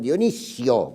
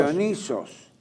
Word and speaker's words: Dioniso: no se equivoquen ni digan Dionisio, porque Dionisio no tiene nada que ver con el dios. Dionisos. El dios es Dioniso.